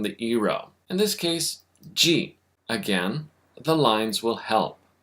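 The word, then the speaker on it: ぢ: Just like its hiragana counterpart, adding the dakuten to chi gives you ji.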